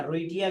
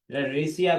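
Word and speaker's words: Wrightia: और दूसरा रेशिया टोमेंटोसा यहां पर रेशिया जो डब्लू आर आई जी एचटी आई टिया रोटिया कह सकते हैं आप रेसिया कह सकते हैं प्रोनाउंस में आप जो भी करें और इसका जो आप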